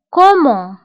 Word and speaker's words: comment: كومون. فهنا كومون كنكتبوها بدوزيم و تي في آخر الكلمة لا تنطق.